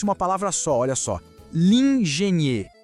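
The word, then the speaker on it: l'ingénieur: Lingenier. Lingenier, o engenheiro.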